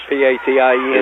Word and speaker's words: Patience: P-A-T-I-E-N-C-E. Is that the way they're saying it? It's pronounced just like P-A-T-I-E-N-C-E, Patience.